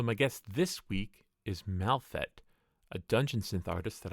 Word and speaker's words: Malfet: So is it pronounced Malfet or is it pronounced Malfet? I tend to anglicize it as I am an Anglo speaker, but the name comes